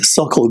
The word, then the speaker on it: Sokol: think, League Park was a stadium there, and they had these suckle groups from all over Pennsylvania and northern Ohio, and we would practice, these drills.